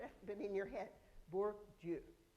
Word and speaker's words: Bourdieu: You don't actually have to repeat after, but in your head, Bourdieu. So many of you, I know, it doesn't look like how it's spelled, but Bourdieu.